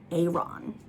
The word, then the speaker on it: Aeron: what i'm saying um i pronounced it aaron like just plain old aaron in the audio version it's pronounced a-ron is that is that